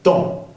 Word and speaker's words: temps: No se pronuncia la P al final ni la S. Temps, sonido nasal en.